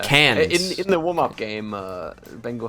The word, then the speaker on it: Cairns: Is that how you pronounce it, Cairns? Cans, yeah. Cans.